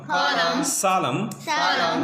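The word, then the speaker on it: solemn: रहा होगा कि आपको एन लिखा हुआ है लेकिन एन पढ़ा नहीं जाएगा because N इज ए साइलेंट। एन क्या है यहाँ पे? साइलेंट है। तो साइलेंट वर्ड होने की बुनियाद पर यहाँ पे हम एन को नहीं पढ़ेंगे।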